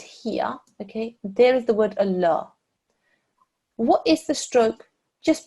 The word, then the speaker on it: Allah: the learner yourselves should be taught to pronounce the lumber sheddeth in the word Allah with a thick and broad sound it's only in the word Allah okay like here that's the